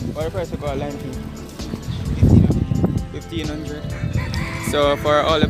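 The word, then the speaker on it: Lime Cay: And there you're seeing an advertisement saying Lime Key. It's spelled C-A-Y, but it's pronounced Key.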